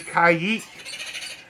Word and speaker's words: caique: put the back and we have the blackheaded kayek and that is how you pronounce the name Kay some people say Kik